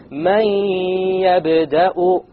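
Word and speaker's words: مَنْ يَبْدَأُ: So we pronounce this as man yabda'u, man yabda'u, man. Notice there is no man. It's immediately the mim associates with the ya, and you drop the noon sound.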